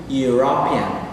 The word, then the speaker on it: European: Entonces decimos a European, a pesar de que están iniciando con vocales, aquí no nos guiamos por cómo está escrito, sino por la pronunciación de la primera sílaba de la palabra, you.